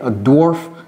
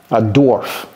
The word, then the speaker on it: dwarf: c'est un NA ok dwarf un ou bien une n un darf DF vous voyez comment j'ai prononcé ça n'allez pas prononcerarf darf non c'est pas darf votre interlocuteur ne saura